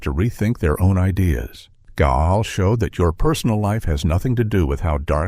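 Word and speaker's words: Gaahl: One of the most famous and intimidating figures from this scene is a singer who goes by the name Gal, pronounced Gaul.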